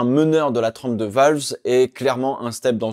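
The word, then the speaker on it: Vowles: Et c'est donc James Valves, comme on prononce en anglais, le responsable de la stratégie chez Mercedes qui prend les rênes de l'écurie de Grove.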